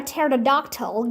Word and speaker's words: pterodactyl: sure yes I'm positive why can't you hear a pterodactyl going to the bathroom because the p is silent what do you call